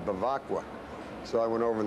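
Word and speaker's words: Bevacqua: I said, how do you pronounce this name? He said, Bavacqua.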